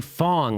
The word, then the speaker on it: Fang: with a a Fang but it's pronounced Fong I've been told that's what people have told me anyway he tweeted this out